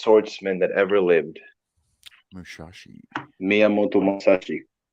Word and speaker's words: Miyamoto Musashi: Miyamoto Musashi. Miyamoto Musashi.